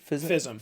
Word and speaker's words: FISM: Fism.